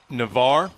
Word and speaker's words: Navarre: So I'm seeing here, you grew up Navarre.